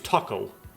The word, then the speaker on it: たこ: I guess the word for callus in Japanese sounds like the word for octopus, which is taco.